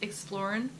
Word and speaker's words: ExploRN: way you should or the way I pronounce it is exploring like we're going exploring and that's how I